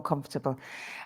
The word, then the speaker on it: comfortable: because I feel more comfortable. And you had to dress more formally, Concha, formally, for a lot of years. Yeah. Be careful of the pronunciation of comfortable. That's sometimes Uh-huh. mispronounced as well.